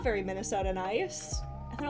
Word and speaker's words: Minnesota: For those of you who are unaware, I am from Minnesota.